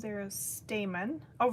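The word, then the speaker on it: stamen: Jesse says there are stamon. Oh, right. Not stamman. I think I mispronounced it.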